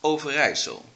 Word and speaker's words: Overijssel: I know that some of you have troubles pronouncing it, so well, you might learn something. This, for example, is the province Overijssel.